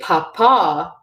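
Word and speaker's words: papá: potato Papa means potato but if you say Paw Paw Paw Paw with the accent on the last day it becomes father so Papa versus Papa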